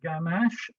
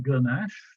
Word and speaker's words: ganache: G isn't it um people pronounce it gamash sometimes with the schwa ganache but that's going to be